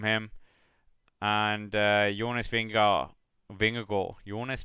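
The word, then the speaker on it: Vingegaard: good ride from him and uh jonas bengal vinger gore jonas being a goal that is the best pronunciation you will hear on any english commentary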